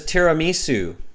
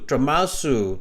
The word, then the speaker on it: tiramisu: your favorite dessert is tiramisu but maybe you can't pronounce it maybe like musu tramasu dramusu okay if your favorite